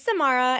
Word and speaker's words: Samara: uh for choosing me my name is Samara it rhymes with tomorrow but I'll get it